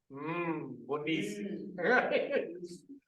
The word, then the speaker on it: Mbonisi: When I first learned his name, his first letter of his name is actually MN, it's pronounced Mbonisi.